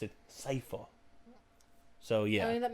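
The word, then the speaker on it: Sypha: this they call her sifa probably because that's more close to the japanese pronunciation of it i don't know huh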